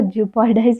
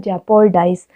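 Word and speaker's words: jeopardize: चलो, जियो पैराडाइज का मतलब आप देखो, अब जियो पैराडाइज इसको आप जेपोर्डाइज पढ़ते हैं, ठीक है, जियो पैराडाइज को जेपोर्डाइज, अब मैं हमेशा जियो पैराडाइज बोलती हूँ, लेकिन इसका प्रोनाउंसिएशन होता है जेपोर्डाइज, ठीक है।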